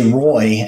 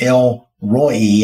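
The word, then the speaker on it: El Roi: descriptors one is L I'm always tempted to just say Roy and that's not exactly right if you look at the phonetics it's rho e and I I struggled to say that but it's El Roy and it's sees is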